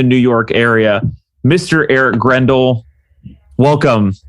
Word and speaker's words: Grendahl: Like it's, Grendel, and technically my pronunciation is Grendahl. It stems from like a Norwegian.